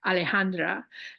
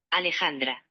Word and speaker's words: Alejandra: hear this aleandra did can you hear that Alejandra that's how you say my name Alejandra Alejandra it's not Alejandra